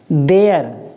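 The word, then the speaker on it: there: देयर, क्या पढ़ते हैं?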